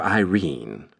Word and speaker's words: Irene: My daughter Irene, said Mrs. Carstyle. She made it rhyme with terine has had no social advantages.